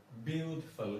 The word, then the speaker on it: beautiful: ബ്യൂട്ടിഫുൾ ഇതൊരു അശക്തമായ സൗണ്ടാണ്, ശ്വാസം ഉണ്ടെന്ന്. ബ്യൂട്ടിഫുൾ ഉണ്ടല്ലോ. ബ്യൂട്ടിഫുൾ. ഫസ്റ്റ് സിലബിളിൽ വരും ഇതിന്റെ സ്ട്രെസ്.